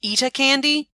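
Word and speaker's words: Etta Candy: every panel I mean I've heard her name even be supposed to be pronounced EA candy kind of like with a British accent to make it even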